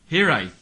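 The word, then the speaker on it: hiraeth: Hirith.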